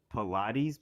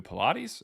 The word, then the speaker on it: Pilate: It's You can't pronounce Pilate? Oh, that's how you say it? Like from the Bible? Pilate. No, um Damn it, dude. It's Pilate, man.